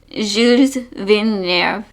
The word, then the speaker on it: Gilles Villeneuve: So this track name is in French and I did not look up the pronunciation before. Okay, I looked it up and it's Gilles Villeneuve.